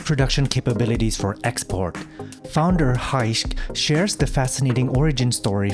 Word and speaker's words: Gijs: And correct me if I mispronounce your name, but Gijs. It's Gijs. It's Gijs. Very difficult to pronounce in almost every country.